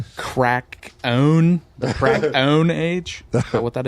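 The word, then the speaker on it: Krakoan: He pronounced it perfectly. Crack. The crack own age.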